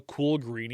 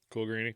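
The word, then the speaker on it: Coolgreany: it cool Greenie c-o-o-l-g-r-e-a-n-y I would say cool green yeah cool granny okay yeah just making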